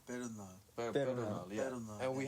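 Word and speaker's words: Perunnal: I think it's actually said Pernal.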